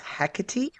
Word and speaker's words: Hecate: I and and the the most common and sort of generally accepted pronunciation even though none of us speak ancient Greek is hecy um she is considered